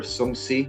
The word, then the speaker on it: Shang-Chi: Like other previously unexplored concepts such as Shang-Chi or Shang-Chi, as it's properly pronounced apparently, have been questioned with like the